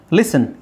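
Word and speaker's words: listen: ಮಾಡ್ಕೊಂಡಿರೋದು asthma osmotic asthma ಲಿಸನ್ ಇಲ್ಲಿ T silent ಆಗುತ್ತೆ ಲಿಸನ್ ಫಾಸನ್ ಇಲ್ಲಿ ಟಿ ಸೈಲೆಂಟ್ ಆಗುತ್ತೆ ಓಕೆ ಲಿಸನ್ ಫಾಸನ್ ಲಿಸನ್ ಲಿಸನ್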